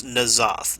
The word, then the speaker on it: N'Zoth: I'm going to hand this to Cinder to see if he can pronounce this. It's N'Zoth.